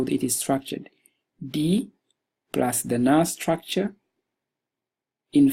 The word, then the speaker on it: di: it is structured you just put D D D I so it's pronounced D which has the meaning of a